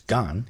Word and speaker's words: 간: Gan, which is Gan in Sino-Korean, means the trunk or stem of a plant.